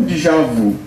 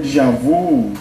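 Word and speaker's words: déjà vu: Eh, esse termo de javu, dejavu, ele assim, tô tô falando as pronúncias, né? Mas assim, esse termo é um termo francês que ele vem do, ele chama Dejavi.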